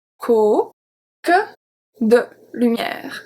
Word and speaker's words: que: Que, de, lumière. So que, the E is going to be pronounced in this case.